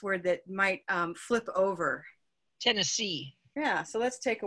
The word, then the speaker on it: Tennessee: Where's the stress? Tennessee. On the last one. Syllable.